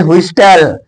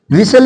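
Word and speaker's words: whistle: इसको हा सीटी इसको सब लोग बोलते विस्टल है ना नहीं इसको विल विल विसल मीन सीटी इसको बुफे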